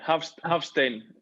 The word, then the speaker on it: Hafsteinn: How do you pronounce it? Hafsteinn.